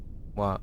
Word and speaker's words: は: So in this topic, we're going to learn about two particles, wa, right, pronounced wa, and mo.